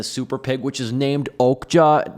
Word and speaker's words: Okja: So the film really revolves around them taking the super pig, which is named Okja. It's Okja, but it's pronounced Okja.